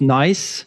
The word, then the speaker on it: NAIS: So it's pronounced nice. It's a nice platform.